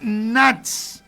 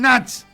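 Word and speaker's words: Nash: Daniel Natch. Daniel Natch. Daniel, como se pronuncia, se escribe. Natch se escribe así, N-A-S-H. N-A-S-H.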